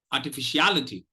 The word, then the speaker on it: artificiality: But artificiality. Artificiality. So here what I'm doing is I'm not stressing fish at all, but look at this. I give enough time for R and fish.